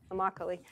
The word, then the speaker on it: Immokalee: tomato pickers inimical II he didn't tells me rhymes with broccoli Immokalee and David and I